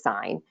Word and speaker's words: sign: with this scientific inquiry is sign people usually think that's a good example because it's something you have to memorize because the the G is not pronounced or people might say